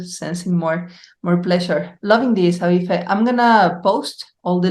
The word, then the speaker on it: Aoife: My name is Irish, so it's Aoife. But so it's spelled kind of crazy.